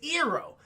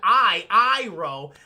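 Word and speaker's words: Iroh: who looks the best is ero who should be called IRA but instead of just you know saying I I row I want to switch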